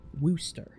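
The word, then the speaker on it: Worcester: It's also not pronounced like you like to think it's pronounced. Wooster. It's not Wooster. There's no oo.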